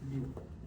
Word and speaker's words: mu: It is it is called the way you pronounce is mu and later is this is the command in case you want to write this symbol in small.